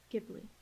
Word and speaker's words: Ghibli: Ghibli.